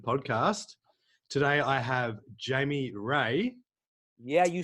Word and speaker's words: Rea: there's three letters in my name how difficult is it to say ray right you know yeah